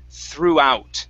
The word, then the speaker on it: throughout: Okay, instead of throughout, okay, the GH is silent. We do not pronounce those in this word. Okay, it is throughout.